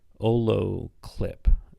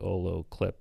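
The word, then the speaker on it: olloclip: more shooting now there's a website called ole olo clip so that's spelled o-l-l-o-c-l-i-p dot clip and it's just like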